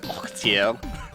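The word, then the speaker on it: Orteil: uh the cookie clicker guy his name is pronounced audio that's that's been with me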